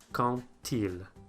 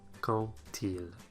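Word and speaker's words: quand il: So if one word ends with a D, and the following word starts with a vowel, it will liaise, but it will be pronounced like a T, as in quand-il, quand-il.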